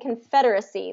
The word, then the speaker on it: Confederacy: So we still have Confederate. Fed is the stress syllable on both of these. Federate and Federacy. But if I'm going to pronounce them, I'm going to write them out. Confederate is going to have an it ending, Confederate, and then Confederacy is going to be issy at the end.